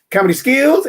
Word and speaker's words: Comedy Schools: that's how it sounds it is spelled the normal way s-c-h-o-o-l-s schools but we pronounce it skills comedy skills and of course right